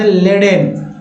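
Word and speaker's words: laden: next देखिए parasite के बाद लेडेन, लेडेन, लेडेन, ए के बाद जब ई आए तो एक उच्चारण ए ही की तरह होता है, लेडेन, लेडेन मीन्स लदा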